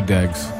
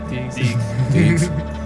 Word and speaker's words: Deegs: It's Deeks. Deeks. Deeks. Deeks. Deeks. Deeks. Like with a G.